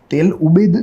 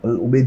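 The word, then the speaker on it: al-Ubaid: इसके स्पेलिंग पे हमें नहीं जाना है, हमें इसका जो प्रोनाउंसिएशन है वह अल उबैद ही करना है।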